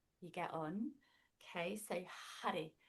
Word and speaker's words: Har: Okay, so Hari, it's spelt H-A-R, Har. And there's a bit of a flick of the tongue as you pronounce it on the roof of the mouth to make that sound,